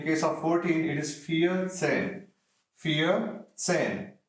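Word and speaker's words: vierzehn: same way in case of 14 it is fear same fear same fear sin fear sin 4 10 4 plus 10 15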